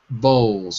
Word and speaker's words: bowls: Bowls. Without the L. Bowls. Bowls. Okay, good. Be careful. No L. Imagine that it's B-O-W-S or B-O-W-U. Bowl. Bowl. Bowls. Perfect. So we don't really say the L at the end of the word. We usually drop it.